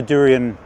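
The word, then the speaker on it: Daurian: river and this morning I still saw the durian red start that's how you pronounce it and the Himalayan red throat common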